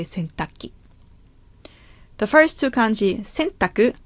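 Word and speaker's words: 洗濯機: is called in Japanese could also be called centakuki but it's a little difficult to pronounce so usual Japanese people say centaki the first two kanji sintaku means to wash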